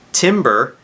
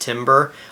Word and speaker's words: timbre: Timbre is wood, and just because a lot of our instruments are made of wood doesn't mean that they sound like wood.